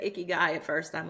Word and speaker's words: ikigai: I know it's pronounced icky guy, like this guy at the Yeah, that's club or whatever.